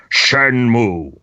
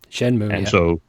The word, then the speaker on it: Shenmue: you will realize that the title of the game is properly pronounced Shenmue. Shenmue, And so this is.